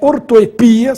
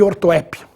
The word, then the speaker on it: ortoepia: temos as duas mas a forma eh ortoepia sem acento É muito mais usada no meio acadêmico do que ortoépia ambrosia e ambrosia Cuidado